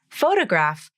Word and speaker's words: photograph: stress of the word photograph has stress on the first syllable photograph and photographic has stress on the third syllable of the word photographic the question i'm asked